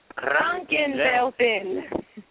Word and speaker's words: Kranken Welpen: Kranken Welpen.